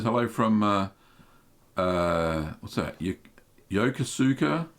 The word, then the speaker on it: Yokosuka: Yokosuka? Yokosuka. That's how you say it.